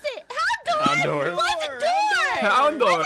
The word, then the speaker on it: Houndour: How do you pronounce it? Houndour.